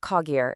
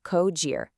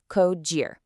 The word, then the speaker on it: Cogir: It's not Cogir, it's Cogir. Think of it like co-pilot, and the second part rhymes with cheer. Cogir.